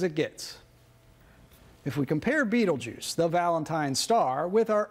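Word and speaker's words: Betelgeuse: it marks the shoulder star of the great Sky giant Orion the Hunter and its name is Beetlejuice which most people pronounce Beetle Juice and if you've ever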